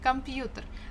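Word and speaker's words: компьютер: off the grid yeah computer the stress falls on letter U but we have kind of semi-stressed uh before the first syllable come computer computer but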